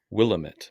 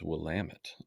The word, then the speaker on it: Willamette: I am in the Willamette Valley which no one pronounces right everyone says Willamette but it's Willamette um just south of